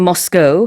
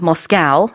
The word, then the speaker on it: Moscow: 네, 실제로 이제 러시아 모스크바, 영어로는 Moscow 아니면 Moscow 둘 다 발음 가능한데요.